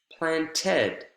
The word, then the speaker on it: planted: planned planned a garden planted planted a garden planned one syllable planted two syllables and we're going to